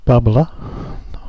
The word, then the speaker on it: Bubblr: okay so this is bubbler or bubble R depending on how you want to pronounce it and I'm going to